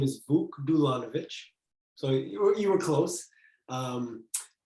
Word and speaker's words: Vuk Dulanovic: uh yeah definitely hi everybody my name is buck dulanovich so you were close um and i you